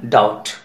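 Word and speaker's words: doubt: डी ओ यू बी T, pronunciation डाउट.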